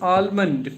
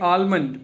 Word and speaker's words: almond: talk about that is almond people call like almond but it's it's almond. L is silent. The word is almond.